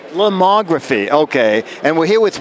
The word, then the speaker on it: Lomography: No, actually, we're here at how do you pronounce the name of the company? Lomography. Lomography, okay.